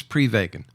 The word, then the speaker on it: Prevagen: So, remind us what exactly is prevagen? Well, technically it's pronounced Prevagen, but what Prevagen is is a